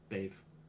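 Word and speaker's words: Badhbh: Bave is spelled Bedhbh, Yeah, and DH in Irish is silent, yeah, generally speaking, and BH is a V sound, so it's Bave.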